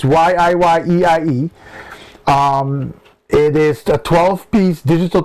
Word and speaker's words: YIYEIE: Someone pronounced it YIYEIE. It's YIYEIE.